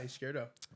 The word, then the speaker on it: Izquierdo: Izquierdo. Is that a good pronunciation? Yeah, Izquierdo.